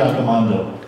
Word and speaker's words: Accomando: And, I'm very sorry, I mispronounced your last name. It's Accomando. I said before.